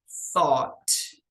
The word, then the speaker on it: thought: gente pronuncia assim certo tem aí sete letras mas tem só três fonemas Mas essa palavra aqui